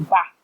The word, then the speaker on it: Bath: So I am quite obviously northern, and so Bath is pronounced Bath because there's no R in it. And Aidan is very much southern, so he pronounced it wrongly with an R in it, which is